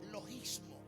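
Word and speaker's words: λογισμός: Escuche, argumentos es la palabra griega que se pronuncia logismo.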